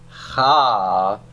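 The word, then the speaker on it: חָכְמָה: And so I have to pronounce this as ha-kama. Say that with me.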